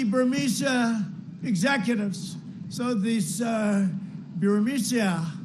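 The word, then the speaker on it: Burisma: executives so this uh bureaucia burmesia they say pronounce it borisia a real beautiful company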